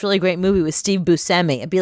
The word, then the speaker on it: Buscemi: Oh, actually, we've been saying Steve Buscemi's name wrong. What is it? Todd Frank? He literally just told us recently that it's Buscemi. Buscemi.